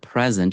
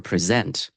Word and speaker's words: present: The classic example that I think of all the time is the word present or present. In that word, the stress creates a difference in meaning.